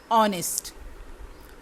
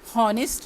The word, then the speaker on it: honest: HONEST, इसका H silent है। ऑनेस्ट, हॉनेस्ट नहीं, ऑनेस्ट।